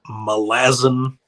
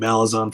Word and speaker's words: Malazan: And I know I'm saying it wrong. It's supposed to be Malazan, but I can't make my mouth do that. So it's always going to be Malazan for me.